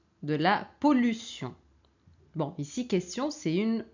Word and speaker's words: question: la pollution bon ici question c'est une c'est une exception hein t i o n mais on prononce t alors invention solution pollution